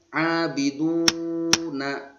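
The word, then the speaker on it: عابدون: Kemudian yang ketiga abiduna dibaca abiduna. Uraiannya waw sukun. Nih waw sukun. Ini sukunnya, ini wawnya. Sebelum harokat dhammah uraiannya. Disebut hukum bacanya mad tabi'i dibaca panjang 2 harokat atau 2 ketukan.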